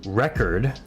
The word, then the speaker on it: record: check the accent too so record the accent is on the re so here it's re record so the accent starts low and goes up record record and here